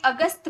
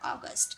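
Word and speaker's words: August: जस्ट example अगस्त। हमें अगस्त बोलते हैं। है ना? लेकिन उसे इंग्लिश में बोला जाता है अगस्त।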